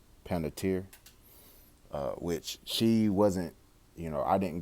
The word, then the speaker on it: Panettiere: Panettiere, which she wasn't, I didn't grow up on